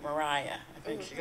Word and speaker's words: Maria: So she was the right, I think we pronounce it Mariah.